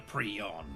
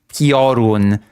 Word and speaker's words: Piorun: Listen, recount the tale, the legend of the Prion. Prion. I still cannot get over this pronunciation of the word Piorun. Okay? There's a very stark difference between Piorun and Prion.